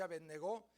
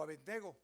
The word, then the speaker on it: Abednego: Y luego les enumera: Sadrach, Mesach y Abednego, o Abednego también, porque no tiene acento en la O.